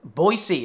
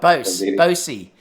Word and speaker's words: Boise: I guess I pronounced it wrong. It says they're all saying Boise, Idaho. Boise, is it? Sorry. Yeah, so Boise. It's Boise, Idaho. Well, I certainly wouldn't have a clue. It's like Boise.